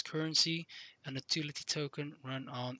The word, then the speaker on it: CRNC: new form of currency, the cryptocurrency called CRNC, pronounced as currency, an utility token run on Ethereum ERC20 tokens.